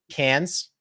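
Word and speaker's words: Cairns: towards uh The Reef we're going into uh cans yeah great barer very different than the way it's pronounced uh but that's we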